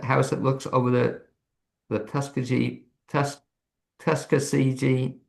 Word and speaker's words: Tuckasegee: Great Smoky Mountains, and in a small house that looks over the Tuskegee, how do you pronounce it? Tuckasegee, very well done.